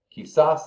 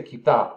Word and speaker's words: quizás: But they say quizás all the time, okay? The pronunciation, because it's Castilian, they don't say quizás, they say quizás, or just quizás.